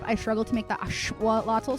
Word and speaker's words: axolotl: actual initial axolotl correctly, because it's axolotl with that click, the TL like sound, and I really struggle to make that. And because of my lisp, I struggle to make the axolotl sound correctly.